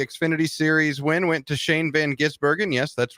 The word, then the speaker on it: Shane van Gisbergen: in NASCAR the exfinity series win went to Shane Van gisbergen yes that's right that's how you pronounce it it's not that difficult NASCAR on